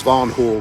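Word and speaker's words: Van Hool: I've come to find out though for the pronunciation is vanon Hol by the way what I've come to find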